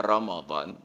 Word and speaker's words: Ramadan: Tapi bacanya wajib Allah sedangkan Romadhon memang tertulis r a m a d a n Ramadan tapi dibaca Romadhon jadi memang tadi paling